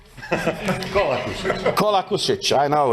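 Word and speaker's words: Kolakušić: And another colleague from Croatia, Kulacic, right? Do I pronounce it correct? Right now, not. Kolakusic.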